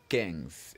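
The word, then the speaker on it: quinze: that we have 15 and remember 15 is Kings exactly now let's spell Kings Q u i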